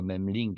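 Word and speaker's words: Memling: c'est le même link le même Link qui s'écrit M e M L i NC alors le peintre mem link a certainement je dirais donné son nom à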